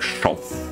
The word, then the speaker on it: Шо: делать нечего О себе моё имя шо произносится как шов как шов и это